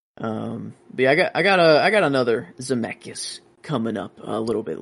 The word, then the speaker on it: Zemeckis: Yeah, Robert Zemeckis.